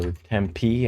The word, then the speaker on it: Tempe: The home of Arizona State University is Tempe or Tempee as a lot of the locals call it.